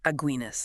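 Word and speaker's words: Aguinis: Aguinas. Yeah, pronounced just like that beer.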